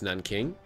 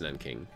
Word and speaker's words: Nanking: Okay, and if they're going to over-deploy an attack towards Nanking, I'm pretty sure is how you pronounce what looks like Nanjing. I think it's Nanking.